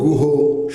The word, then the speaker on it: গুহ: কাব্যগ্রন্থাী তিনি রচনা করেছেন গুহ সাহেবদের উচ্চারণে হলো গোহ যতীন্দ্রচরণ গোহ ওরফে গোবর গোহ